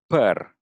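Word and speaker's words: păr: The word for hair Mm-hmm. is actually per.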